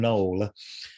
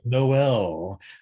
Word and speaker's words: Noel: dramatic noel till and a lot of people don't know how to pronounce his name and he would it would drive him crazy if people called him knoll and he'd say noel and then i've heard people call him tile uh and you know